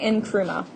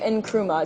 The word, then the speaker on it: Nkrumah: the leadership of Kwame Nkrumah Kwame and always pronounced the end Kwame Nkrumah it's not silent we don't skip it Kwame Nkrumah and what's interesting about